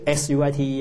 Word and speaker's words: suite: 啊，这个 SUITE 啊，这个发音跟那个甜蜜啊 Sweet 是一样啊。